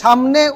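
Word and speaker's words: ثاء: সায়ের উচ্চারণ কোথায়? সামনের বড় বড় দুই দাঁতের পেছনে জিহ্বা লাগিয়ে সেখান থেকে সা বলে ছেড়ে দিতে হবে। সা সা সা। একটু হালকা বাতাসের মতো সফট উচ্চারণ হবে।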